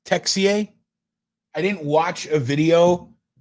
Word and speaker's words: Texier: of the net texier texier texier it's not touche it's tech ca i didn't watch a video on how to